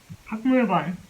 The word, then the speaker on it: 박물관: So before real we have U, a vowel, and we have G, a consonant. So it's in between G and U, which is a vowel. So we pronounce it as an L sound.